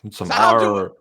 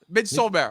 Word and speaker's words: Midsommar: All you Americans pronounce Midsommar wrong. Like Midsommar. Midsommar. Okay, I'll make sure I pronounce it like that from now on. Are you Swedish? No, but I'm close enough to know that, and close enough geographically to know how they pronounce it.